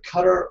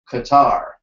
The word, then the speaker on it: Qatar: want to pronounce it it's either cutter or Qatar most people say Qatar but in in Qatar they say cutter either way you know